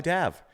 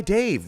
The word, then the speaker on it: Dav: guess I'm okay because I found out I was saying your name wrong for the past I don't know six months of year I've been saying produced by Dave with no e everyone so sorry about